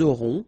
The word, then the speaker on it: auront: liaison here, vous aurez, ils auront, final T not pronounced, elles auront.